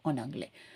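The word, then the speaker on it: en anglais: Okay, so திரும்பி நம்ம வந்து இங்கே எஸ்ஸை வந்து ப்ரொனவுன்ஸ் பண்ண மாட்டேங்கிறோம், ஆன் ஆங்கிலே.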